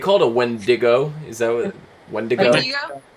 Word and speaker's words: Wendigo: Is that what wendigo? Wendigo? Wendigo, I think is how they pronounced it.